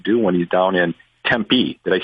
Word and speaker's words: Tempe: about what to do when he's down in Tempe did I say it right you said it